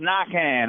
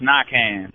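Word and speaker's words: Naquin: Yeah, it's pronounced Knockan. I know it's a little throw down here, but it's pronounced Knockan. Knockan.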